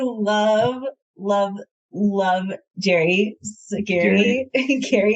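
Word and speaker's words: Gerry: love love Jerry Gary Gary it's spelled Jerry right it's spelled Jerry but it's Gary Gary I love him so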